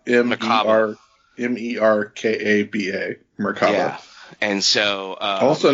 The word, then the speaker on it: Merkaba: But it's like Merkalaba is what he says. It's the word is almost like that, and Merkaba, I believe, is the actual word, and at least that's what it looks like when it's spelled.